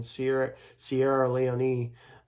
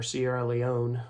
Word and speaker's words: Sierra Leone: In England, he worked for the resettlement of blacks in Sierra Leone, or Sierra Leone. I've heard it pronounced both ways.